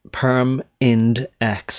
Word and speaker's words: PERMINDEX: I'm trying to deliberately pronounce it like PERMINDEX, as though there are 3 distinct syllables, because they are shorthand